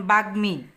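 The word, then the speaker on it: বাগ্মী: এর উচ্চারণ হয় যেমন বাগ্মি এখানে গর সাথে মারণ হয়েছে বাগমি ম এর উচ্চারণ হয়েছে উচ্চারণের সময় রসই দীর্ঘ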